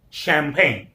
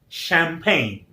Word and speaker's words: champagne: Champagne. Champagne. Again, stress is on P. Champagne.